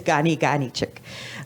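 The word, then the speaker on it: Ka Ni Kanichihk: Uh spelled with a K, so it's K. So it's K A N I, but it's a G sound. So if anybody sees it, it's Gani Ghani Chick.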